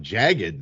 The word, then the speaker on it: jagged: Before we get into it, really going with the one syllable on jagged there, Grooney. I couldn't pronounce it. Yeah, my bad. Jagged. Oh, okay, it's not jagged. Okay, jagged. Okay.